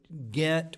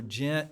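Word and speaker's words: Ghent: was called the Treaty of gent or gent you hear it pronounced differently it's a city in Belgium uh where British and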